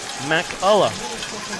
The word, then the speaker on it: McCullough: The Vaqueros goalkeeper's name is pronounced McCullough.